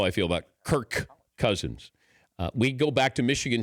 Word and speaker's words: Kirk Cousins: have mispronounced or they think I'm saying Kurt cousins instead of Kirk Cousins if I'm being lazy